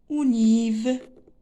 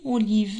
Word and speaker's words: olive: La quatrième image, c'est olive. Une olive. Olive. Donc, la syllabe qui convient, c'est ve.